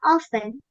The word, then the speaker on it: often: Sebenarnya ada 2 cara, guys. Yang pertama yaitu nggak usah dibaca, jadinya often. Yang kedua, T-nya tetap dibaca itu juga nggak apa-apa, jadinya often.